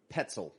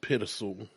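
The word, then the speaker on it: Pitezel: We got a gentleman by the name of Ben Petzel. Pittizel. Something like that. So I believe it's pronounced Pittizel.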